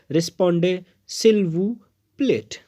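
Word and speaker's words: répondez s'il vous plaît: ये अक्सर invitation cards पे लिखा होता है और इसको, ये एक फ्रेंच टर्म है और इसको पढ़ते हैं रिस्पोंडे सिल वू प्लेट।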